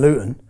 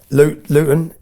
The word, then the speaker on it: Luton: Luton. Luton. We don't pronounce our T's in Luton, but Luton is 30 mi north of London.